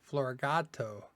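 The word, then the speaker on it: Floragato: Florigato, because cat in Spanish is gato, or something like that.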